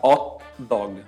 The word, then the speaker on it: hot dog: Em italiano a gente fala hot dog, sem pronunciar o H.